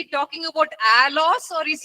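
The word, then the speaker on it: ἄλλος: One word is एल एलोस। और एक शब्द जो है उसको एलोस कहते हैं। ए एल एल ओ एस।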